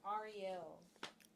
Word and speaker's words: Ariel: It's Ariel. So if you've been saying it wrong, say it right now.